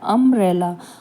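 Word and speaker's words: umbrella: अम्ब्रेला है, यहाँ पे देखिए यू से ही शुरू है, लेकिन यू जो है वो अ की आवाज़ निकाल रहा है, अम्ब्रेला।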